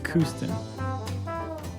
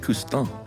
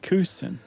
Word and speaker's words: Couston: I thought it was Couston. No? If you're in France, that's how you would say it. But here in the United States, you say Couston.